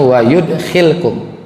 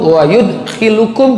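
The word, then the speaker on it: وَيُدْخِلْكُمْ: Wa yudkhilkum ya, wa yudkhilkum, bunyinya wa yudkhilkum. Yaghfir lakum dzunubakum wa yudkhilukum, bukan, tapi bacanya wa yudkhilkum, lamnya disukunkan. Wa yudkhilkum jannatin tajri min tahtihal anhar.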